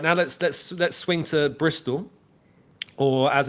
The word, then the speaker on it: Bristol: let's let's swing to Bristol or as it's known here in the UK known locally Brazil people like to not pronounce their T's here um all right okay